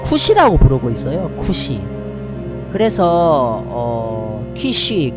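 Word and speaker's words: כוש: 시를 짓기를 베냐민 사람 구스가 날 존나 괴롭힌다이 구스 굿이 이게 본래 발음은 쿠시입니다 쿠시 베냐민 사람 쿠시가 날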